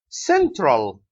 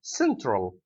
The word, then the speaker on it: central: one tell is stressed central is the first syllable central okay luggage luggage luck